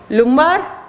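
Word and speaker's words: lumbar: को थोरेसिक तीसरे को लुमार चौथे को लमर लुमर भी प्रोनाउंस कर सकते हैं इसको।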